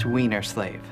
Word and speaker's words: Weinerslav: here excuse me Mr weinerslav it's pronounced weener slave okay Jeffrey is the